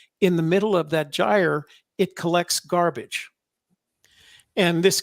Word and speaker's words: gyre: referred to as the ocean gyre it's spelled g-y-r-e it's pronounced gyre and the gyre is uh there